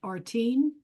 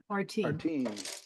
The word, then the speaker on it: Artine: Michael, Fadi just said that guy's name is pronounced Artine. Artine. That's how you pronounce his first name.